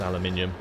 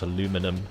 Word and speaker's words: aluminium: Uh the blue is aluminium, not aluminum as a lot of the Americans say. Uh, obviously it is preference. It does kind of get on my nerves sometimes when people keep saying aluminum, but it's actually aluminum. We invented the language, so deal with it.